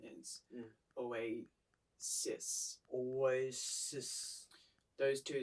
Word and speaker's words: Oasis: it sounds like you say oh wait uh oh always just so the correct pronunciation is away cis always those two sounds are kind of difficult